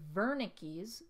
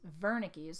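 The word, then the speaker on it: Wernicke: we have the warning Verna Keys Verna keys so we see that this is spelled with a W but it's pronounced with a V so Verna Keys area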